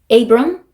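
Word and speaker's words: Abram: 에이브럼, 세라이 이렇게 발음을 합니다.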